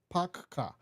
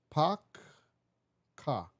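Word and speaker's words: PACCAR: Peterbilt ni Packard, P-A-C-C-A-R, kama Packard. Ile naweza pronounce hivi, kampuni ya Peterbilt ni hivi, na type ama nasijika na type nito hivi, Packard.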